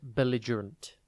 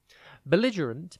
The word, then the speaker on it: belligerent: one word at a time today's word is belligerent it is pronounced b a run and it is spelled